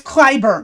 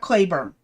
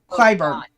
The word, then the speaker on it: Clyburn: It's Clyburn, not Clayburn. Clyburn. How do you How do you spell it? I can't see. C L Y B U R N.